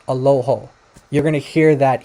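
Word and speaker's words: ܐܠܗܐ: is allaha and maybe in Western you know that it's pronounced aloho you're going to hear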